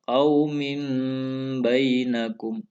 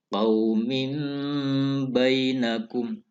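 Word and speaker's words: قَوْمٍ بَيْنَكُمْ: Cara bacanya, suara tanwin masuk, seakan-akan masuk ke ba. Qaumin bainakum. Qaumin bainakum.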